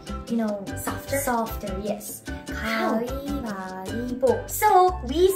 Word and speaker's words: 가위바위보: 가위바위보. So, we sounds more like E instead, is that right? Uh-huh. But it's not like strong E, just soft E. So, 가위바위보.